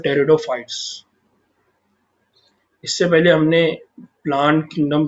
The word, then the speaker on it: Pteridophytes: यहाँ पर पी देखिए साइलेंट है, इसको याद रखना है आपको। जब भी आप प्रोनाउंस करेंगे तो पी यहाँ पर साइलेंट है, इसलिए आप इसको कहेंगे टेरिडोफाइट्स। नाउ टेरिडोफाइट्स के यहाँ पर दो